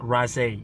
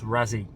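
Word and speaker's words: Raasay: It's called It's pronounced Razi Island, by the way. Not Razi, it's Razi.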